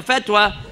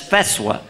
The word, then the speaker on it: fatwa: feta we have a fatwa said I'm sorry brother you're mispronouncing that that's feswa okay this is crazy